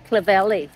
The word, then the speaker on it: Clovelly: Yesterday I called my son and I said, I got to Clovelly, and he goes, Mum, it's Clovelly.